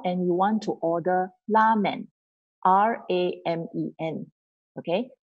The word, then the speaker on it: ramen: If you go to a restaurant and you want to order ramen, R-A-M-E-N, okay? So Japanese don't pronounce it like R-A. So they pronounce it as L-A instead. So you want to order ramen, so you have to say ramen.